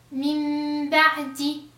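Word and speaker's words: من بعد: Si vous voyez ici que je fais un mime, pas un noun, on ne prononce pas le noun, on la change, on la remplace avec une mime.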